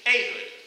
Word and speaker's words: Ehud: So go ahead and say it with me, Ehud. There you go. So if you learn anything, you now know how to pronounce Ehud.